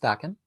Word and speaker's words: Daken: Some people say Dakin. It's pronounced Dakin.